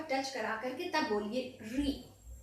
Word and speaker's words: ऋ: स्पर्श करे, तभी आपकी इन वर्णों का सही उच्चारण होगा। जैसे री, अगर हमने री बोला तो आप जैसे रा